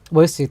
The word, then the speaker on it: Nwosu: And the illustrator, sorry, is Chi Nwosu. Is that how you pronounce her name? Wosu.